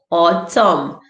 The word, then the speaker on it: autumn: words so let's go silent n mostly at the end autumn but you that i